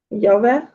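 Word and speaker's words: llave: Е-е, ну, тут воно також читається, як її. Так, так. Яве. Яве. Так. Винятків з цього правила немає. Тобто, якщо ви бачите дві л, це ніколи не буде читатися як л, воно тільки як є.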